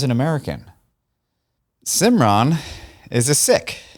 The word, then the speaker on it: Sikh: American cimron is a sick you may have heard it pronounced as seek or sikki is another